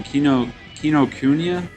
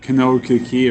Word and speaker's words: Kinokuniya: Kinokuniya? Or as a certain other person would call it, Kinokiki or whatever. Kinokiki. Because he can't pronounce it with shit.